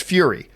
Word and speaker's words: Furya: how to pronounce that, it's just Fury. It's pronounced Fury. At least that's how his daughter pronounced it as he had her read it out.